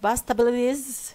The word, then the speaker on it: Bastabilities: Another example, here we have Bastabilities, an Italian shop. Bastabilities, it reminds you of, or it rhymes with possibilities.